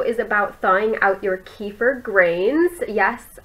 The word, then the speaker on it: kefir: This video is about thawing out your kefir grains. Yes, I am still pronouncing it kefir, or I know it says kefir or something like that.